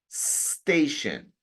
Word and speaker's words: station: La letra E no existe al principio. No es station. Es station.